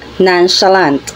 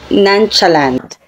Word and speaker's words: nonchalant: being concerned or indifferent it is pronounced as nonchalant at hindi nonchalant non a a non sh shant nonchalant ang word anant ay